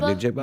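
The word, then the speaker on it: Njigba: Yeah, Najigba.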